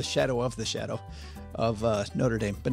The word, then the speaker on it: Notre Dame: South Bend, Indiana called Notre Dame. Notre Dame. That's how they say it. No, that's the one in Paris. It's French. The one in Paris is Notre Dame. This is Notre Dame.